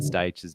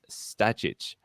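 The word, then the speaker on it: Stajić: to correctly pronounce Alan Stage's name on Australian TV the way he wants. Note his reaction. He's a great guy. Everyone knows as Stag, but the surname pronunciation guide is Stajic.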